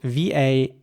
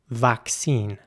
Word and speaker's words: vaccine: In British English, the word would be pronounced vaccine. And again, the A is pronounced like an A, vaccine. In American English, it would be more like vaccine with an A sound once again.